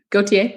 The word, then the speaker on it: Gauthier: Gauthier? Or Gauthier? Yeah. Gauthier.